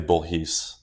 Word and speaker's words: Bourhis: It's technically Bourhis. What's Bourhis? Bourhis is the French pronunciation of my last name, but we butchered that when my family came to the U.S.